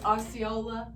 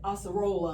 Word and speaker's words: Acerola: Oh, Osceola? Yes. Okay, Acerola, I'm sorry.